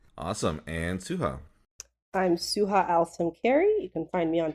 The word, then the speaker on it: Al-Samkari: It's in Arabic, it's AL-SAMKARI.